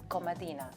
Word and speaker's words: Komadina: and I have the pleasure to present Komadina. Did I pronounce that correctly?